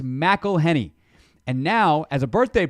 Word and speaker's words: McElhenney: McElhenney, what ways to massacre and mispronounce it, there are many. McElhenney. McElhenney. McElhenney. If there was doubt, now there won't be any. It's McElhenney.